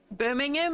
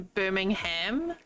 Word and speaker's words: Birmingham: find really interesting is how you can get place names that are the same between England and the states but they're pronounced differently okay enjoy feeding time but wait waiting like uh Birmingham as opposed to Birmingham same same place like same words same spelling and everything Couch Street penguin pronounces